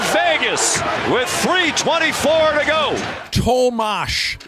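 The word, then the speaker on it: Tomáš: Tomas Hurdle! Then it's 5-4 Vegas with 3:24 to go. Tomash is how you say the first name. I thought it was Tom Hurdle. It's not. Yes, it's weird.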